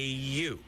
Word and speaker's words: yew: A yew. I'll bet you spell it a different way, huh? Yes, it is spelled a different way, but it's still you, baby.